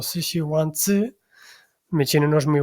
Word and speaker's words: Sixiwanzi: Esto que veis en esta imagen es un plato tradicional chino llamado Shishiwanzi, aunque creo que la pronunciación más aproximada sería algo así como Shishiwanzi.